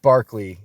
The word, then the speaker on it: Berkeley: just a fact okay also George Barkley and it's spelled Berkeley but it is Berkeley I love him his